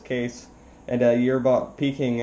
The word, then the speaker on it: Kees: The name is Kees, Kilowatt, Echo is Sierra, pronounced as Kees.